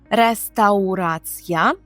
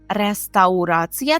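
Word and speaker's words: restauracja: вони чують слово рестаурація але треба добре вимовляти через ау рестаурація рестаурація То перше що спадає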